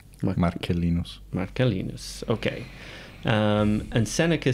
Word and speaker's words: Marcellinus: So this letter begins, Lucilius has apparently been asking about their mutual friend, Marcellinus? Well, if it's classical pronunciation, it's K. Marcellinus.